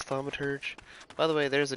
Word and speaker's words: thaumaturge: um a tu orgy I believe it's thaumaturge by the way there's